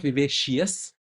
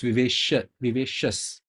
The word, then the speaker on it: vivacious: One correction: it is not vivacious. Even I used to pronounce it like that. It's vivacious, not cious. The I there is not to be pronounced.